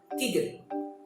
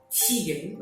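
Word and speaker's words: 디귿: So it's more to tigen. Tigen. As you can see how I pronounce the name of the consonants, tigen. So it's not really vegan, not really vegan, but also not really like tigen, okay? But it's in the middle ground that tigen, okay?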